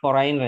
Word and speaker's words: foreigner: Foreign itu dibacanya foreigner ya Mas. Foreigner ya foreigner. For ada Foreigner. i-nya. G-nya nggak dibaca foreigner, jadi nggak dibaca G-nya, di foreigner.